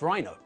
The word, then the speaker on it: rhino: And when we abbreviate the word, the stress moves from the second syllable to the first. Welcome to English. Leave your logic at the door. Rhinoceros, but rhino.